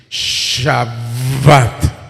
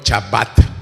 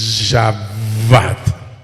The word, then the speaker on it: Shabbat: Shabat. Así se pronuncia. Shabat. No, no chabat, sino shabbat.